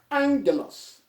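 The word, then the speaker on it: ἄγγελος: So when two gammas come together, it is pronounced as ang, as in N and G.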